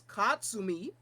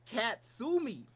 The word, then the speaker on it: Katsumi: And for whatever reason, the director of this English dub had them pronouncing the heroine of the show, whose name is Katsumi. They pronounce that shit as Katsumi.